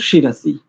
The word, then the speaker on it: शिरसि: है ओम भूह पुना शिरसी शि रसी पहले तालव्य फिर दंते भूह भूह उकार के